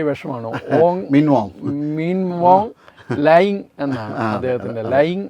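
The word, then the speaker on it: Hlaing: മീൻവോ ലയിങ് എന്നാണ് അദ്ദേഹത്തിന്റെ ലയിങ് എന്നാണ് എച് ഉണ്ടെങ്കിലും അതില്ല ഉച്ചാരണത്തിൽ ഇല്ല മീൻവോ ലയിങ് എന്നാണ് അദ്ദേഹത്തിന്റെ പേര് അപ്പോ അദ്ദേഹം അവിടെ പോയി അവിടുത്തെ ചൈനചൈ ചൈനീസ് പ്രധാനമന്ത്രിയെ പോയി കാണുന്നു അവരുമായി ചർച്ച നടത്തുന്നു.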